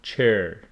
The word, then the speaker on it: chair: And also similar to this one with pronunciation, we have chair, not chair. Hair, chair.